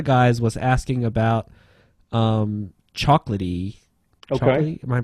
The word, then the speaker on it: Chocolatey: one of the guys was asking about um chocolaty okay am i pronouncing that right yep I mean his first question was why did we go with midnight over chocolate chocolatey is that right so I and I think